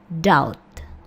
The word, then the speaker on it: doubt: doubt. Oke. Doubt. Jadi, B-nya tidak terdengar. Dou.